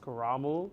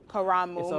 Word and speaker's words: Karamu: It's pronounced Kuramu. Kuramu.